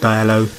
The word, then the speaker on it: Diallo: video now as you can see I've got dialogue that's how you say his name man and